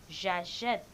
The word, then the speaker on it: j'achète: But if you don't put an accent grave above a, it will be longer pronounced. So they want this verb to pronounce shorter. They use accent grave in acheter. So now it is j'achète, I buy.